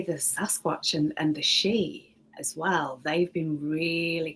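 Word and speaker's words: sidhe: what's that it's me it's spell s-i-d-h-e it's a silent i and a silent d so it's just pronounced she so i think that's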